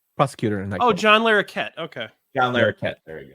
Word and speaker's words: Larroquette: He plays John LaRoque. John LaRoque. He plays the prosecutor in that. Oh, John Larroquette.